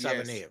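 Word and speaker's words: Savaiinaea: guard I think it's Salvanea. Salvania. Yes, yes, Salvanea.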